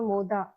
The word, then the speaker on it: Mod: So, tell us something about your studio Moda. Okay, Studio Moda. A lot of people have a little difficulty pronouncing my name, studio name, and it is actually Mod. Mod is a Sanskrit word for pleasure Okay.